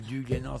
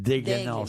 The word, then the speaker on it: des Glénan: C'est pas les îles du Glénan, c'est les îles des Glénan.